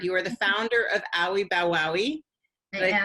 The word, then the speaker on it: Owie Bow Wowie: You are the founder of Owie Bow Wowie.